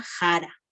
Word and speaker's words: sara: consonante más antigua y se escribe así no pero se pronuncia jara entonces vamos a tener